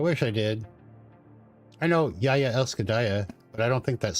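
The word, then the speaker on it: Jeg elsker deg: It's spelled like Jagdegreg, but it's pronounced Yaya Elskadaya.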